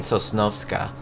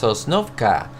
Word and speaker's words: Sosnovka: I've been saying Sosnovska if you hear the past videos, but I thank you for joining me guys and gals. It's pronounced Sosnovka.